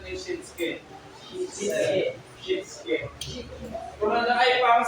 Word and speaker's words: Shitsuke: Pero, as I research about the pronunciation of it, I found out na ang tamang pronunciation is Shinsuke.